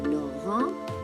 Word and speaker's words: Laurent: Now Laurent, the T here is silent. Now in English, Laurent is Lauren. But in French, E-N, when E, the letter E meets N, it becomes O. That's why you have Laurent.